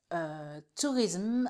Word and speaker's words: tourism: Et en anglais, c'est 3. Tourisme.